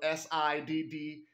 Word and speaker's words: Siddhis: Now, let me spell that because it sounds like Siddhia, which I spelled a while ago, but this is spelled S-I-D-D-H-I-S.